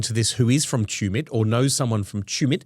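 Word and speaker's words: Tumut: Well, this is a call out to anyone listening to this who is from Tumit or knows someone from Tumit.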